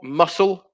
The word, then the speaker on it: muscle: o um number four muscle so it's the c that is silent for number four uh for number five